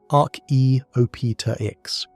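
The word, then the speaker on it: Archaeopteryx: Arita X.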